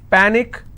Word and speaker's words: panic: last but one syllable so let's break this panic is per nick which means i will stress on pat and it's pronounced that panic tragic tragic i